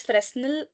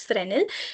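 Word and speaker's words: Fresnel: So you can either call it as final or but the literal pronunciation is frenal.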